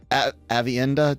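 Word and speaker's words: Aviendha: Avienda, did I say it right, or did I screw it up?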